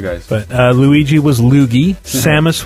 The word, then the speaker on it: Samus: Samus was Samass.